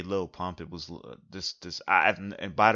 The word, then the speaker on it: Lil Pump: I would literally have never heard or seen Little Pump. Um, or excuse me, I actually pronounced little. I shouldn't say. I'm sorry. Excuse me, Lil Pump.